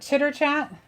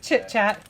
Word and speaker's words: chit chat: it's called is it chitter chat i was just giving it more syllables than it needed it's just chit chat so we've got our